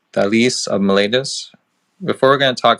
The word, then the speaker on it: Thales of Miletus: And so the topic that we're going to be talking tonight, well, first, before we go into, by the way, it's pronounced Thales of Miletus.